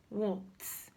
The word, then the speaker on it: walked: You should pronounce this as t and not d. First example, the word walk. walk, walk, walking down the street. When you say the past tense form, you should say walked and not walked.